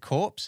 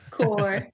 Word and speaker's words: corps: have adjutant General's core you pronounce it corpse is that right core of course um and so we